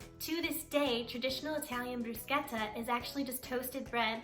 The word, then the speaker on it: bruschetta: we are making bruschetta and yes it is pronounced bruschetta and not bruschetta is a very simple and delicious dish